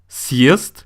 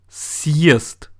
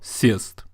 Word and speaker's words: съезд: The consonant, which is the first letter of the word, is S, or the sound S, plus the hard sign, plus letter Е. Therefore, the pronunciation is съезд, not сесть, съезд.